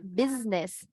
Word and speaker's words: business: You need to remember, you write it with S, but pronounce with Z, okay?